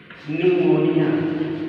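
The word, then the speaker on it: pneumonia: PPLO इसका पूरा नाम है pleuro न्यूमोनिया, P silent, न्यूमोनिया like organism.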